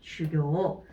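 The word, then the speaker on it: 修行: 보게 되면은 지금 어떤 한자가 들어가 있냐면 N3에서도 나오고 N2에서 나오는데, 이 닦을수, 요거는 원래 음은 슈, 장음으로 읽어야 돼요. 장음으로 읽어야 되는데, 여기만 유일하게 슈라고 읽게 되죠. 수행에서만 슈라고 읽어요. 단음으로 읽어요.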